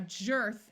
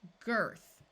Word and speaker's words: girth: Now, jerth is not a word. Let's try it with the hard G sound. G, earth, girth.